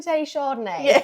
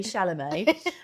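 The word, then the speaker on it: Chalamet: Someone called him Tim Shardney. It's like such a great name. Anyway, uh, now I've and now I've tricked my brain into thinking I don't know how to say it. Timothy Shalamé, um, has been on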